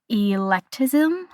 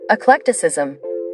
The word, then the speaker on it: eclecticism: It said that the Victorian era from 1837 to 1901 had electism. Electism ec. I'm going to look this up. Eclecticism.